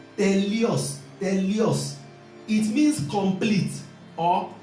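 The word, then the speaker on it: teleios: It is pronounced telios.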